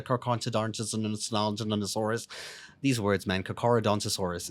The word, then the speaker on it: Carcharodontosaurus: downstairs these words man kokorodontosaurus is how you say it and it sometimes bothers